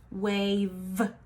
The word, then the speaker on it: wave: It is an E, but that E is silent. That E is what makes that A say its long sound.